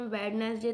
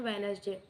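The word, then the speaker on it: Wednesday: First है वेडनेसडे, तो वेडनेसडे में से हो जाएगा डी साइलेंट वर्ड, क्योंकि हम वेडनेसडे तो नहीं बोलते, हम बोलते हैं वेडनेसडे।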